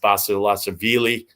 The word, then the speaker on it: Basilashvili: Andy Murray on the tube right now against Basilashvili. Yeah, that's how you pronounce it.